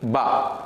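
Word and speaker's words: باء: அதாவது இந்த எழுத்தில் நாங்கள் இதனுடைய எழுத்துக்கள் நமக்கு நாம் அலிஃப் பே என்று உச்சரிச்சிருக்கிறோம்.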